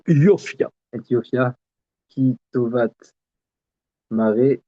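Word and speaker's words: יָפְיָהּ: Lehavi et Vashti, Amalka, Lifni Amelech, Becheter, Malchut, Leharot Ha'amim, Lehasarim, et Yafia, Alors, on prononce Yofia.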